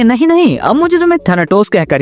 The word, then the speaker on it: थैनाटोस: Fifth Prince का तो ये कहना था, लेकिन थैनोस, हाँ इसका नाम थैनाटोस है लेकिन मैं थैनोस कहूंगा, प्रोनाउंसिएशन में आसानी होती है यार।